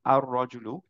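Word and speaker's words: الرجل: ক্ষেত্রে আমরা এখন পড়লাম আর রজুলু র টাকে মার্চ করে ফেলেছি লামটা বাদ দিয়ে দিয়েছি র টাকে দুইবার পড়লাম রাইট আমরা একটু আগেই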